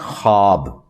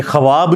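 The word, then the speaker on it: خواب: ब उड़ जाति है इसको पढ़ने का तरीका है खाब ये ख्वाब नहीं पढ़ा जाता वैसे उर्दू में चल भी जाता है लेकिन ये लफ्ज़ है ख्वाब तो वो उसमें फिर साइलेंट हो जाति है तो यह जो खबरें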